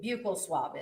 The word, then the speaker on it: buccal: Now, can you tell the jury what a buccal swab is?